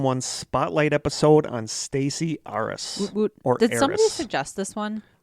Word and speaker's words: Arras: differently but i'm going to say stacy aris because it's a a-r-r-a-s r-s but this is how i would say it this episode is going